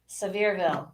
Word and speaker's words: Sevierville: else with it so severeville verbal sevierville what is it honey sevierville so ver oh you're you're pronouncing it too much like a weather announcer honey sevierville well i've never said